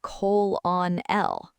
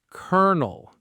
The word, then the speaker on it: colonel: You might try to say colon-L. But the actual word is colonel. Colonel. It's a military rank. It makes 0 sense. None of these letters spell colonel, but that's what it is.